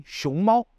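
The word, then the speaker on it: 熊猫: Le panda se dit xiongmao. D'ailleurs, on en a déjà parlé dans une leçon précédente sur l'importance de bien prononcer les tons en mandarin.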